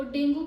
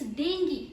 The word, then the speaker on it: dengue: लेकिन इंग्लिश में इस वर्ड को डेंगू प्रोनाउंस करना is completely wrong. So the right way to pronounce it इज DENGEE। Yes, in English it is dengue. It's not dengue, but it is dengue.